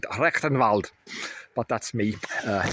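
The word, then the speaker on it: Rectenwald: I would have spelled that with a K and pronounced it rectenvald but that's me.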